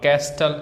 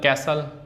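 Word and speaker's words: castle: ऐसे ही silent T है। अब कैस्टल कैसल लिसन विल तो इसमें पता है टी साइलेंट है।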